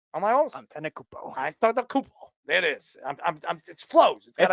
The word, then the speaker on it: Antetokounmpo: How do I pronounce? Hold on. Antetokounmpo, right? Am I almost? Antetokounmpo.